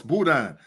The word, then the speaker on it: boudin: No, it's boudin.